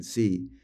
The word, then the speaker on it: sí: And don't forget the accent on the I here, chicos. That means it's yes. If you get rid of the accent, if you omit it, and it's just SI, that means if.